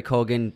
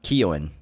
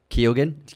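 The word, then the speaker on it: Keoghan: it's really terrific barry colgan it's actually uh pronounced keon kyogen keowin kiewin yeah barry kuwin i like that i think i think it's not something like that yeah it's irish celtic but he did a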